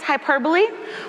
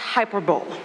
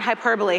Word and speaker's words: hyperbole: to be taken literally and no it's not pronounced hyperb so where can we find it Well the weather report is a great place to find hyperbole winter storm warning worst storm in a decade